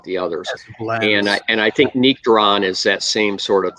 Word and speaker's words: Nectaron: It's pronounced Nectaron.